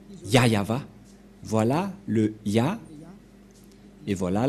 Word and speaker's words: Yahvah: voit rien et donc c'est bien la V prononciation de son nom yayava voilà le ya et